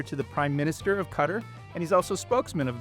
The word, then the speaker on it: Qatar: we say sometimes and I've heard your country pronounced in so many different ways. I've heard gutter as if like a rain gutter on a house or even guitar.